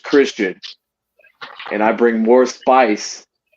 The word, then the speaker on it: Xtian: going to know that X TI is pronounced Christian and I bring more